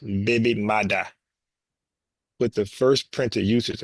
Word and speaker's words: baby mother: Creo look at this the term originated in Jamaican Creo as a baby mother pronounced baby Mada with the first printed